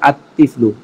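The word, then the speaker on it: الطفل: এই শুরুতে আলিফ লাম যোগ করলে আতিফলু। আর তিফলু এমনটা নয়, লামের উচ্চারণ হবে না।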